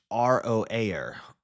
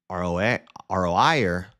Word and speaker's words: Aroer: The biblical name Aroer is pronounced Roaer. Roaer. It can also be pronounced Aroer or Aroer.